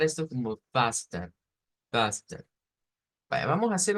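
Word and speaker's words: fasten: Entonces, véase que pasamos de una vocal E que cualquiera, si no supiéramos de esto, nosotros nos diríamos en español, mire, yo leo que ahí dice pastel, ¿ya?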